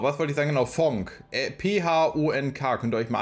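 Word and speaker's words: Phonk: Oder P-H-O-N-K, ich glaube, das spricht man so aus. Funk, Punk.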